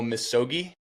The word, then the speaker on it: Misogi: up about for doing I'm going to probably mispronounce it. Your annual Missogi.